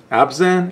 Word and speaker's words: Abzan: be an absent build abs in is how it's pronounced I wish you had